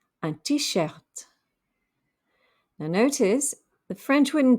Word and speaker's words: t-shirt: skirt a t-shirt a t-shirt now notice the french wouldn't typically pronounce the t at the end of a word but because it's actually an english word the french do pronounce that final t antisert a men's dress